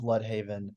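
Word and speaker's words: Blüdhaven: But might I offer the fact that everyone else pronounces it as blood, and like all of the names around Bloodhaven are Else.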